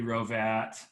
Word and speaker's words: Hrovat: former uh olympic wrestler andy rovat uh the silent h i think is what